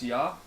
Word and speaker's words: ja: But the J-A is not pronounced as ja, though, right? It's pronounced as ya, I think.